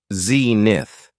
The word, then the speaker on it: zenith: next noun is Zenith it has two syllables and the stress is on on the first syllable Zenith when talking about the